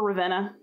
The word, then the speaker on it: Ravenna: And you could say Verona because V's are pronounced like W in Latin, but why? Just say Verona. That's cool. Same thing for Ravenna.